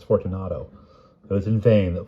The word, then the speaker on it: Fortunato: It was in vain that Fortuno, I've been saying it wrong this whole time, it's Fortunato.